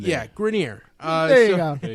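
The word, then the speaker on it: Grenier: this just because of just pronounced his name as if it was like the real French pronunciation that's how he pronounces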